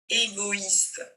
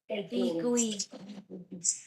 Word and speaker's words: égoïste: Le i avec les deux points dessus, ça veut dire qu'il faut prononcer le i. Ça veut dire qu'on dit pas, on dit oi. Égoïste. Égoïste. Avec bien le t à la fin.